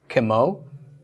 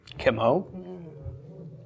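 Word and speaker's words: כמו: And our final preposition for today is spelled kaf with a shva, mem, vav with a cholam. So this is pronounced kemo. Kemo.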